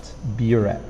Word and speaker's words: buret: is fine to understand but remember the pronunciation is at the start buret dropper dropper a tube